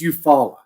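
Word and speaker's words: Eufaula: you said you follow it's you follow oh you know corey it's okay there's there's towns in georgia that you guys probably pronounce wrong too yeah i mean oh i guarantee if he wasn't from alabama he wouldn't know how to say it because it it looks i if i looked at it i wouldn't say you follow yeah but dude freaking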